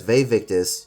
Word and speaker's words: Vae Victis: Marcus says Vae Victis, which means woe to the conquered in Latin. However, the pronunciation is wrong. It should be Vae Victis, not Vae Victis.